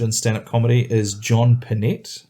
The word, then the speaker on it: Pinette: stand-up comedy is John Pinette. I think that's how you pronounce it. I feel like it should be Pinette, but he pronounced it John Pinette.